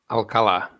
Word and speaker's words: Alfredo Alcala: Paulo, what's the correct pronunciation for that? Alcala.